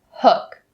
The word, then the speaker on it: hook: concentrate on the word hook hook now even though it is spelled with a double O we do not say we don't say not correct we say uh uh hook now let's say the